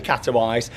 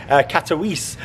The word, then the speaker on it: Katowice: from Glasgow to catalyze now I say catalyze from watching a few videos and things for the park I think you pronounce it Katowice but you know my